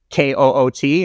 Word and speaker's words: Koot: It looks like it's K-O-O-T in English. I pronounce it as Koot.